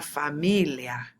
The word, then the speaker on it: familia: Una familia. The stress is on the me.